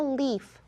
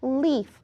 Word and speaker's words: Leif: Leaf is spelled a little differently because that's the name of the character.